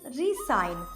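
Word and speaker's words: re-sign: Next word is रिसाइन। रिसाइन में एस को एस ही pronounce किया जाता है और इसका मतलब होता है stay in your current job और साइनिंग अ कॉन्ट्रैक्ट।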